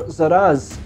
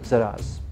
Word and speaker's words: Szeras: So yeah, let's have a look a little bit of lore on Illuminor Szeras. I believe the S is silent. So full disclosure on this one, I did not know anything about Szeras before I began this video.